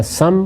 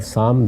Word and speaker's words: سام: یافت اور یافس دونوں تلفظ ہیں، اسی طرح سم اور سام دونوں تلفظ ہیں.